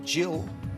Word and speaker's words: gill: Lock it in, Jill, actually, they pronounce it.